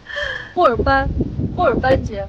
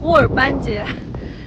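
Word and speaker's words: 霍尔班节: 霍尔班节，发音对吗？对。霍尔班节，在 28、29 号。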